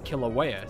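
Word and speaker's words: Kīlauea: in a village close to her home in kilauea see i know how to pronounce that word decided to try to placate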